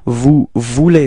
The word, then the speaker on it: vous voulez: And keep in mind that it's vous voulez form, E-Z, when you combine them, especially with the verbs at the endings, it sounds like E, okay, so it's vous voulez, okay, so don't pronounce the Z, okay?